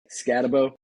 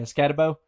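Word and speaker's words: Skattebo: But with how do you say it? Scatabo? You did really good on it. Scatabo. Yeah, Scatabo.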